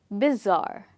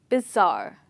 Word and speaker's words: bizarre: you pronounce it as bizarre the stress is on zar so repeat it after me bizarre okay so bizarre means